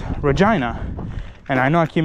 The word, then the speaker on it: Regina: regina, it is pronounced reginina. And I know I keep making this joke every 5 seconds if you guys have seen my older content, but reginina rhymes with vagina.